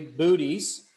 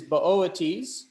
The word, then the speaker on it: Boötes: Now, Arcturus belongs to the constellation Boötes. Now, I know some of you might be laughing because it looks like it's literally booties.